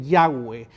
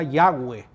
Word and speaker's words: Yahweh: Recuerde usted que en esa época el idioma hebreo no tenía vocales, entonces aparecen allí 4 letras, 4 letras consonantes, y entonces quizás la pronunciación más aproximada sea Yahweh, ¿verdad?